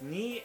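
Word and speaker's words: 二: Next, we have two, which is pronounced ni and it is basically two horizontal lines.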